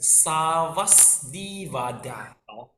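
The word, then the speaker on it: Sarvāstivāda: Actually, we pronounce this as Savasdivada.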